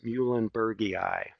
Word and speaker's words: muehlenbergii: And often species names, the Latin names, end in two I's. And that's pronounced "ee-eye." So Quercus chinkapin oak would be pronounced Quercus muehlenbergii.